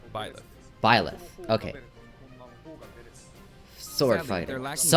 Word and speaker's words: Byleth: So, How do you this even is our pronounce new that fighter, name? Byleth.